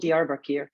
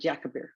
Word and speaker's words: Diyarbakir: It's called Diyarbakir, and Kevin would call it Yakabir all the time.